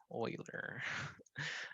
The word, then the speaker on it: Euler: this class but um this word right here is pronounced oiler it's the last name